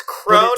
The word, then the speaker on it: Kron: I think it's Crone. It's Crone, but it's spelled Kron.